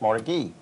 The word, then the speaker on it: Mordecai: It's spelled Mordecai, but pronounced Mordecai.